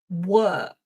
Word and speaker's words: work: And let's see, it's an it's a long sound. So the mouth is kind of neutral again. And it's a bit like the schwah. It's that but instead of uh it's longer. It's uh uh work.